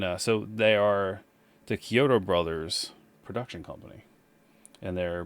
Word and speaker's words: Chiodo: like 100 theirs yep is it kyoto or chiyoto kyoto okay this is the pronunciation the k it's key ki when you look at a pronunciation of it it's it starts with the key kyoto um yeah i knew